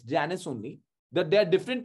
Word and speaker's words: Janus: but then in that movie they're calling him janice so i looked it up i was very i was like i've been calling it wrong but it's not it's janus only that there are different pronunciations in latin